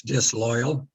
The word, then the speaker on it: disloyal: Yes, disloyal. Disloyal, there's an O, but you say all those syllables. Disloy, all. Disloyal. And the AL almost sounds like UL.